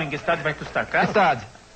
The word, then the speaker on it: Gstaad: Gstaad. O G é mudo.